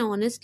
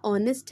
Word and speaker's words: honest: Now here यहाँ पे भी H है आपका, honest है, but that's why we are using an because pronunciation of O vowel is coming from our mouth.